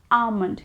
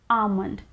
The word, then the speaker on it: almond: days next is almond almond can you see the letter l here we don't pronounce it the l hair is always silent so it is always pronounced as almond almond in a sentence soaked